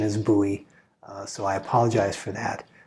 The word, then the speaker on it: Bowie: that i have been wanting to get a buoy blade xm18 and i apologize when i did the review for this i caught throughout the review i called it a bully blade the correct pronunciation is buoy so i apologize for that uh but uh